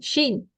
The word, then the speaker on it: Chine: Shin. Sheen. What is Yeah. the spelling? Chine. Yes, Sheen. Okay. But suppose a student is getting a difficult time to capture the pronunciation of China in French language.